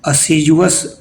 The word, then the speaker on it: assiduous: इसमें D silent है। असीज पढ़ते हैं।